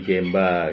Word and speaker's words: genba: mutu itu ada empat gemba g m ba atau ada tulisnya G NBA juga Yang benar genba sih emang cuman pelafalan ya jadi gemba gitu Kanai gampang yang kedua